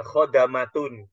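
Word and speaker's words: خدمة: melayaninyaidmati yaidmatihi dengan melayaninya jadi beda antara kita membacanya khidmatun dengan khamatun ya kalau khidmatun itu artinya adalah pelayanan ya kalau khidmatun itu artinya pelayanan kalau khamatun para pelayan kan beda ya kalau khidmatun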